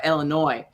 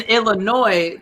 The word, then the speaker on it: Illinois: chicago apparently but in illinois there's a tendency for people that live there to pronounce it illinois like illinois instead of an eye gotcha and so i